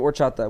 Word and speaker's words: horchata: The H is silent.